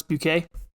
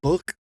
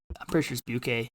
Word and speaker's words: Buquet: Alex Buquet. That's how I say it. Okay. I was going to say Book. No, I'm pretty sure it's Buquet.